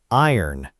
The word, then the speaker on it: iron: Next word, iron. This one looks like it should sound like I ran, but it's actually pronounced I earn, almost dropping that middle sound completely.